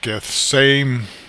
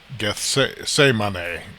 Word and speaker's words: Gethsemane: Garden of Gethsemane, and it says it's supposed to be pronounced Gethsemane, Gethsemane, I guess in Greek, but in King James English, or, in just Americanized English, I guess, we tend to pronounce it Gethsemane.